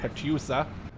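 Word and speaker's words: Katyusha: anything there's like a Katusha over there as they say cut yousa right a Polish way of pronouncing it oh he's blocked peered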